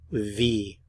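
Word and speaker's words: wie: goes es gate how V how V notice the pronunciation of the W it's like an English V sound v v v how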